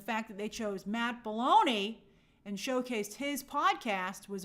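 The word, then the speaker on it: Belloni: they're behind a pay wall uh oh it's pronounced baloney I like it still sounds like balone okay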